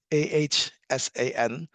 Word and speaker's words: Assane: It's pronounced the phonetic pronunciation is Ahsan because a lot of people read this as Asani. So it's Asan. I am from Senegal, West Africa.